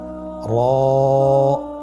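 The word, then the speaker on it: ر: পড় করে উচ্চারণ করব মোটা করে উচ্চারণ করব এবং র হরফটি এক আলিফ টেনে পড়ব আপনারা আমার সাথে বলুন র আবার বলুন র এর মাখরাজ কোন জায়গা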